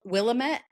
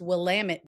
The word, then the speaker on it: Willamette: Everybody mispronounce it as Willamette, Uh but huh. out there, everybody's got T-shirts and signs that say it's Willamette. Damn it!